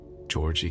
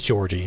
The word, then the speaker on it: Georgie: Simon Kane, Georgie Kane, and Victor. Oh, it is Georgie. Okay, well, I've been mispronouncing it this whole time. Georgie Kane, not Georgi.